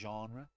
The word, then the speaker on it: genre: say these words no I don't think junior is genre yeah no that makes more sense I just never knew how to say it it's a genre I don't [ __